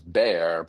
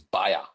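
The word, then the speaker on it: Bayer: I spent time at what we Americans know as bear but like I it took me also like six months baya y ba like I I mean yes that's the German pronunciation but I just never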